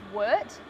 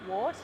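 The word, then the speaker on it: wort: that lovely sweet liquid which is known as Wirt spelled w-o-r-t but you know for those in the know they know it's pronounced work not wart and get rid of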